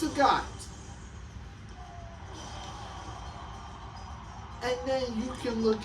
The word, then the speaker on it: Sagat: Like Sagat, like you might look at that and call it Sagat, but it's not. It's Sagat.